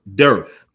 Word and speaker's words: dearth: The word dearth is spelled like hearth, but with a D.